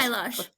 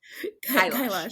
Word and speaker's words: Kailash: I love it, but it's Kailash Satyarthi. Did I do anything close to his name? Close. Close. Kailash. Kailash. Kailash Okay, Kailash, but Satyarthi.